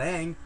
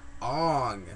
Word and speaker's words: Aang: that because that's Aang oh no no no not Ang Ong yeah what is with the